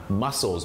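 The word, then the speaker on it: mussels: ออก เสียง ว่า "muscles" เหมือน กับ คำ ว่า "muscle" ค่ะ " และ ถ้า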